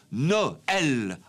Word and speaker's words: Noël: la finale est tombée on obtient ai Noel en deux syllabes d'ù le tréma sur lait comme vous le